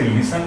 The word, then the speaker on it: listen: ऐसे ही LISTEN, इसमें टी नहीं बोलेंगे, इसे लिसन पढ़ेंगे।